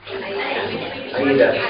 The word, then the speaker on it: AIDA: Follow the AIDA, you can pronounce AIDA. AIDA. AIDA is the name of an opera.